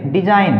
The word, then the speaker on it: design: DESIGN डिजाइन, तो यहाँ पर जो है G हमारा साइलेंट है।